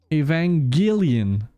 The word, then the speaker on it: Evangelion: Pour ton info, c'est un Hard G dans Evangelion.